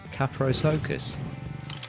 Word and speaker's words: Kaprosuchus: But Kaprosuchus, like a circus.